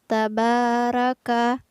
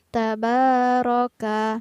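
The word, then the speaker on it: تبارك: disini pada lafaz tabaroka ada huruf ro yang berbaris fathah maka harus dibaca tebal jadi kurang tepat jika kita membacanya tabaraka tapi yang benar adalah ta hai roka kemudian menggunakan juga huruf wakaf ya bukan huruf qaf jadi bukan tabarok oh tapi yang benar adalah tabaroka hai kemudian lafaz alladzi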